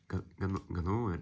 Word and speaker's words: Ганновер: Ганновер, да, Ганновер. Ударение правильно, Ганновер.